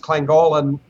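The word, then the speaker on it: Llangollen: we're going back to lank it's actually pronounced clang Golan North Wales we're gonna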